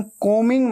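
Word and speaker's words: combing: रहे हैं आई एम कोमिंग my hair कोमिंग को मिंग ऐसे बोलना है ठीक है बी हमेशा साइलेंट होता है स्पेलिंग में आता है लेकिन बोलते वक्त उच्चारण में नहीं आता प्रोनंसिएशन में नहीं आता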